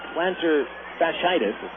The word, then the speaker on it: plantar fasciitis: one martin with a heel problem classified as plantar fasciitis and saying it correctly to one pitch from